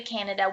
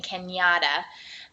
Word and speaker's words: Canada: Now, he's not saying it right. He's saying Kenyatta.